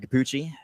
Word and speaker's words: Cappucci: Everything is Kapuchi. Kapuchi spelled like cappuccino but without the no.